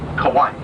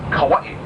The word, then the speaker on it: Hawaii: hundred times a day I find a more easy or more lazy Way by just playing Kawaii but Kawaii would be the right pronunciation oldness of the eight